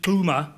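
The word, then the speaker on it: Xuma: president Zuma so AB Kuma not related to The Zuma the current Zuma a different Zuma different pronunciation XU ma a um he began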